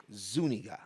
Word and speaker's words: Zuniga: that's a whole another even if it's pronounced Zuniga or something like that. That is Zu Ni Ga. Zuniga.